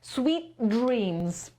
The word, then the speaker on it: sweet dreams: czyli ma być sweet-sweet i teraz Dreams uwaga coś wam pokażę fajnego Sweet Dreams ty i ty znowu Słuchajcie jeden obok drugiego bardzo podobny dźwięki Co oznacza że wymowie będę musiała wymaga wywalić to ty stąd i będę mówić Sweet Dreams Sweet Dreams tak jakby tu się zatrzymam Sweet Dreams Sweet Dreams